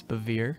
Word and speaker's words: Bevere: driven by how do you say it it's bevere bevere john bevere he also wrote a book